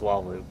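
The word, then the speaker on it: Hlaalu: I think the h is silent. I think it's just waloo.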